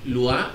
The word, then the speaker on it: Lua: Estoy como, se escribe, Lua, L-U-A. Lua, y pues ahí me pueden encontrar.